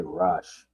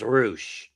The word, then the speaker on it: Rush: I'm just going to throw a wild ball and just say Rush. Cuz I don't even know who's going to end up winning. It's pronounced Roosh. Roosh, basically. Uh I'll take Ciampa.